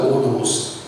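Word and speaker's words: ὁδός: ஓதோஸ் H வந்து pronounce ஆகாது ஸ்பானிஷ்ல.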